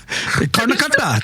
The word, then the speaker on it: Karnataka: Karnataka, that's how you say it.